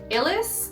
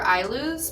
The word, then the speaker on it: Ilus: It's either Illis or I lose, but I want to say it's Illis. I love you, Dari, but I swear I forget how to say it every time. I think it's Illis. Anyways, that aside, they came